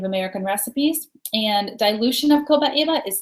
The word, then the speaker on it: copaiba: You're going to hear this one pronounced a lot of different ways. I choose to say copaiba, but you might hear some different pronunciations of it.